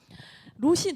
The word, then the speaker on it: 롯: 자, 발음이 중요합니다. 모압과 암몬의 조상은 롯. 지금 이 성경에 나온 여인의 이름은 룻. 맞아요. 롯이 누구냐면 아브라함의 조카였잖아요.